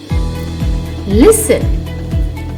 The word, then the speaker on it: listen: The silent letter T. Interview, buffet, gourmet, rapport, penchant, listen, glisten, hasten, fasten, castle, whistle.